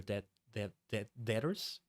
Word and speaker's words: debtors: We'll talk about that, like, enslave your debtors? Debtors? How do you say that? Do you have to pronounce the B for that?